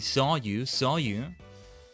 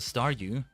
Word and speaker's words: Staryu: was still just a Staryu, I could never pronounce his name right. It always ended up sounding like saw you.